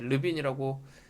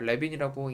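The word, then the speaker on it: Levene: 이게 이제 프랑스 사람이기 때문에 르빈이라고 읽더라고요. 레빈이라고 읽는 줄 알았는데 이 르빈의 등분상 검정을 먼저 확인을 해주는 겁니다.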